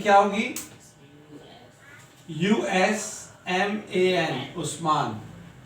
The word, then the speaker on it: Usman: USMAN, उस्मान। तो यानी कि यू जो है उस का भी साउंड देता है, उस।